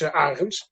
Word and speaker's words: Arens: You could pronounce it as, and my last name is Arens.